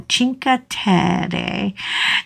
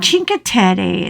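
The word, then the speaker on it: Cinque: want to live in chinka and chinka is spelled c i n q u e go Google it and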